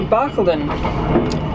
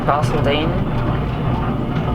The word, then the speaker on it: Barcaldine: I think I was calling it Barcaldine before. I knew I had it wrong. Some Queensland towns, you'd never know how to pronounce them because they're always not what you think. I thought that the wrong pronunciation was Barcaldine or something like that, and I knew that was incorrect, but then I thought for some reason Barcaldine is correct.